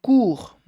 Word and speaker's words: court: Se não, seria long ou court, tá? Então, long, somente sem o final, sem a pronúncia do G, e court, sem o final da pronúncia do T, d'accord?